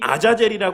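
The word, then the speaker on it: עזאזל: 하는 의미의 히브리어 표현인데 아사이 하는 표현 히브리어 발음으로 하면 아자젤니다이 아자젤이 하는 표현이이 두 단어의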